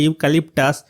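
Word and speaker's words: eucalyptus: এখানে এ বসার কারণ হচ্ছে এখানে যে ইউক্যালিপটাস ফার্স্ট লেটারটা ই, এটা কিন্তু ভাওয়েল আছে কিন্তু এর উচ্চারণটা কনসোনেন্টের মতো, এই কারণে এখানে এ বসেছে।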